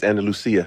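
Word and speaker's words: Andalucía: And you from Spain is Andal Lucia. And Lucia.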